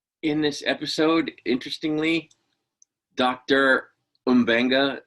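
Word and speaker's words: M'Benga: all along apparently that his name is umbenga not mubenga despite the fact that una called him mabenga last week and i thought oh i've been saying it wrong it's mabenga not umbenga but it is in fact umbenga not mabenga so i'm glad we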